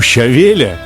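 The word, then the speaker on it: щавель: Вот у щавеля, или, как правильно говорить по-русски, у щавеля, задача совершенно понятная.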